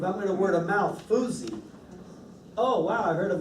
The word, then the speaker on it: Foosye: And how do you pronounce it? Foosye.